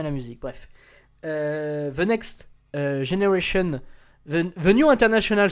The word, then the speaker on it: Gener8ion: mais c'est pas grave, de Generation, parce que ça s'écrit Gener8ion, c'est sur Bromance Records, et